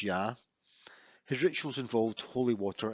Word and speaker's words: Ea: his name was IA and Acadian which is pronounced ya his rituals involved holy water and his symbol